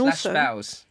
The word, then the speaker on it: bao: And /baos. /bao, which is spelled BAO.